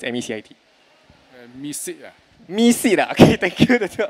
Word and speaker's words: MECIT: Misit. MECIT. Okay, thank you. The two of you. So apparently a correct response or the way they wanted to share was MECIT is pronounced as make it.